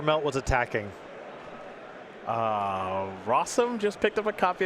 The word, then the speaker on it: Rossum: on Magic Online buy Rossum rhymes with awesome which I guess you